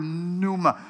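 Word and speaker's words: πνεῦμα: that's the word here this the Greek word Numa through the Numa for the spirit how do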